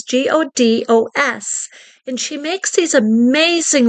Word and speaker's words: Godos: Her name is Elena Goddess. I think that's how you pronounce her name. If I pronounced it incorrectly, please forgive me. It's Elena, and then her last name is Godos.